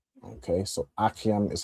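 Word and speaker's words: אַחִים: And if you wanted to say the plural, it would be achiam. Okay, so achiam is how you'd say brothers.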